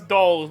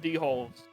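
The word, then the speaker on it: dhole: what a d-hole guy i know they pronounce dolls but i'm calling them d-holes that's their name to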